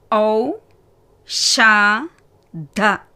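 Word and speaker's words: औषध: அடுத்த வார்த்தை ஔ ஷா த. முதலாவது எழுத்து ஔ, இரண்டாவது ஷா, மூன்றாவது த. த வந்து வியஞ்சன். ஸோ இத். ஔ ஷா த, ஔஷத்.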